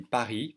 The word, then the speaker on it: Paris: even if you say Paris I think people will understand because they're so used to hearing Paris from English speakers yet you should know that you don't pronounce the S and so it is